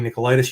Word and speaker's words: Nicolaidis: And my name is, like you said, Nicolaidis. You pronounced it just perfect.